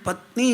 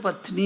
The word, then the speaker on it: പത്നി: പന്നി എന്ന് പറയാറില്ല അതുമാതിരി പത്നി എന്ന് പറയും പറയേണ്ടത് പത്നി എന്നാ അങ്ങനെയല്ല മാറി അപ്പോ സാധാരണ അതിന്റെ റൂൾ തുടക്കമാണെങ്കിൽ നകാരം മധ്യത്തിലോ അവസാനത്തിലോ നകാരം വന്നാൽ അതിന് ന എന്ന് പറയേണ്ടിവരും മറ്റേത് ന എന്ന് പറയേണ്ടിവരും അത്